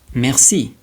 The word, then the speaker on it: merci: Then, there's the E that sounds like E. And an example of that is the word merci.